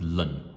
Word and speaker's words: ln: this thing here now i don't pronounce it alain or lawn i just pronounce it lin okay ln is lin so it's lin x